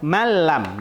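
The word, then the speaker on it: مَنْ لَمْ: Contoh lain, man lam. Man lam. Man lam. Bacaan yang benar malam, langsung huruf nun sukun seakan-akan dia hilang.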